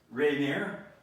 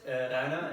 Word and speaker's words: Rainer: This is the Sam Bell Show, and today we have a guest, Rainier. Am I saying it correctly? Yeah, it's Rainer in German.